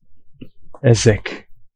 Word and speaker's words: Ezek: I think I put here developed by Ezek. E-X-E-X-E, but pronounced Ezek.